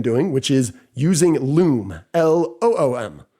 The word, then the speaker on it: Loom: I will also recommend doing what we've been doing, which is using Loom, Loom. It's nice. It rhymes with Zoom, right?